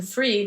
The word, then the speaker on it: Fried: founder and CEO Jason freed I think it's freed not fried but it's spelled like fried anyway Jason posted on his